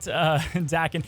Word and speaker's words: Daken: Now, the best part is about Daken. It's Daken, by the way.